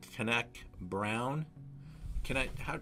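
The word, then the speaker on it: Cantenac Brown: Tonight we're drinking a wine from Margaux, Chateau Canac Brown. Sebastian, did I pronounce that correct?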